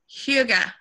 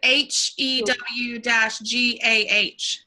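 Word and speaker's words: hygge: I read when I was Googling that it's pronounced like Huga. Oh, that sounds more Scandinavian. Yeah, because I was saying hygiene and it was like pronounced, it was like HEW-GAH, Huga or something like that.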